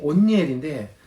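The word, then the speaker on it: 옷니엘: 정확한 발음이 온니엘인데 원고에 제가 운니엘이라고 잘못 기재하였습니다.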